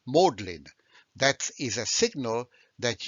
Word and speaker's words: Magdalen: the oxford jargon then magdalene college is not pronounced magdalene but it's pronounced modlin that is a signal